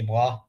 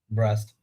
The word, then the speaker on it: Brest: season when PSG played Stade de Bras, or as they call it, Brest. Yeah, and or not as the French, but the English speaking people.